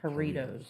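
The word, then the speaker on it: Jarritos: Doritos Doritos so Doritos I think there J is silent it's the hito haritos hito the Mexican soda right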